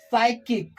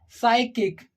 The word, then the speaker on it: psychic: we can see that P is in the beginning and after P there is f yeah but we are not pronouncing here the letter P we are keeping them silent okay so this is